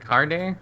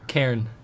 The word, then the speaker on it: Karen: How is it? Carne? Karen. Karen? Yeah. Oh, okay. Karen.